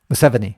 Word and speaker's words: Museveni: And the president, Museveni or whatever that guy said, how do you pronounce his name? Museveni. Yeah, Museveni.